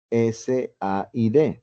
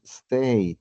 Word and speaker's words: said: Recordemos que el verbo decir en pasado simple es S-A-I-D, pero no decimos state, como a veces lo pronunciamos. El verbo se debe decir said, como cuando tengo ganas de tomar agua, entonces said.